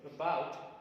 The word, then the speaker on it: about: Look at the word about. What do you hear? About, about. Is there the difference between pronouncing and bout? Of course, bout is heard little loudly, right? Is heard. I mean, is not heard as loudly as bout is heard.